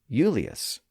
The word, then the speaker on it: Julius: In early episodes, I talked about how the name Julius, as in Julius Caesar, was originally spelled with an I and pronounced Eulius in Latin and then became Julius.